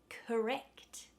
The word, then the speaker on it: correct: And correct. The ect is the stressed syllable, so the core becomes K.